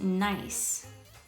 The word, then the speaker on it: nice: word we have is nice and there's that soft c that we learned about last week making the sound of an s i would say nice